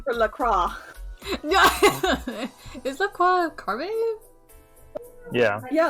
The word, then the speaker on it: Lacroix: Like, you would say LaCroix. Like, Amélie Lacroix is the name of Widowmaker. Pronounce it like lacrosse to annoy everyone.